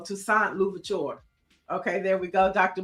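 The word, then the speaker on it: Toussaint Louverture: Mike V says it's pronounced Luvaturure Neiel. So Tusant Luvaturure.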